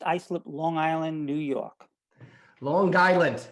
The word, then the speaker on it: Long Island: Long Island. You can always tell Yes. with the hard G.